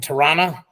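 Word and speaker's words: Tirana: is in torana Albania am I pronouncing torana correctly GT yep oh look at me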